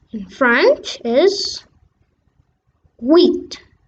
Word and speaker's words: huit: Next, 8 in French is HUIT. HUIT. The H is silent a little. HUIT.